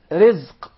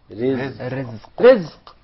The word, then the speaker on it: Rizq: Rizq. Rizq. Rizq. Did you notice here the ra is very soft and light? Yeah, because it has a kasra. So say ri. Versus rahim. Yes. Yeah. Rizq.